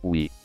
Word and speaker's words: Wii: to other wii consoles the console's name pronounced as we it means that everyone